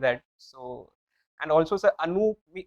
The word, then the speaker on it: Anup: So, and also, sir, Anup, double OP would actually mean that the middle syllable is more dragged.